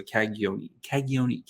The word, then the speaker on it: Cagnoni: So kind of a Y instead of a G. So Cagnoni.